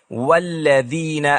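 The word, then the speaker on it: والذين: کہتے ہیں والذین آمنوا، یہاں حمزۃ الوصل گر جاتا ہے، کیونکہ میں واو کا تلفظ کرنے کے بعد اسے براہ راست اگلے لفظ سے جوڑتا ہوں۔ والذین، ہم والذین نہیں کہتے، وہ غلط ہے، لیکن اگر میں اس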